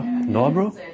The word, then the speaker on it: Nørrebro: what neighborhood are we again is this still no bro yeah no that's the pronunciation you can help me with no bro no no bro yeah very good i'm working on it i've